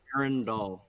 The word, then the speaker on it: Arendall: i've been mispronouncing it aaron doll it's weird one arendall okay so like rhino doll at the end but like okay so